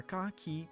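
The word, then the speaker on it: カ: up a single syllable you pronounce this as ca like in the word card indeed or car or cockatiel i guess cocktail that's another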